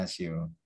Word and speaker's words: Natio: Kemudian Nasio, tulisannya Natio tapi bacanya Nasio.